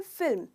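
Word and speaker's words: film: इसे जनरली लोग फिल्म कहते हैं, जो बिल्कुल गलत प्रोनाउंसिएशन है। इसका सही प्रोनाउंसिएशन है फिल्म। तो इसमें दोस्तों बिल्कुल स्पेलिंग के तरह ही सारे लेटर्स को प्रोनाउंस करना है, फिल्म।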